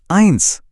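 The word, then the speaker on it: eins: Number एक है आइंस। सुन रहे हैं आई आइंस। और ऐसे ही नंबर तीन है द्राई। यहां भी डी आर के बाद फिर से वही आई की आवाज है। तो आइंस द्राई एकदम क्लियर।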